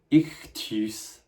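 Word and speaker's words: ἰχθύς: pause it and try and say it yourself ectus it is this means fish there's actually a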